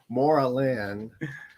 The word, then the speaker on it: Moreland: Moreland is how you say it, and it's actually the lead vocalist, one of the lead vocalists' birthday, the 14th.